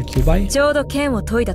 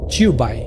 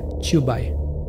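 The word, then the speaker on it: Qiubai: Midnight for Cubai. No, it's I'm sorry. I'm pronouncing her name wrong. It's not Cubai. It's Chubby. That's it. Yeah, Chubai. Good thing we have Civilizia for this.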